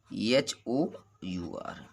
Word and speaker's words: hour: तो वहाँ यच का उच्चारण नहीं होता है। इसको एग्जाम्पल के माध्यम से देखेंगे। देखिए HONEST, HONOUR, एक होगा HOUR, एक ये होता है HEIR होता है।